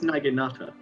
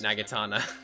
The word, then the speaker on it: naginata: end of a stick no that's that's naginata naginata yeah but I keep pronouncing it nagitana because and souls gets